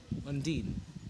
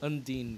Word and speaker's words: Undine: By the way, guys, for those of you who are pronouncing Undine, Undine, or whatever, it's Undine. It's Undine, guys.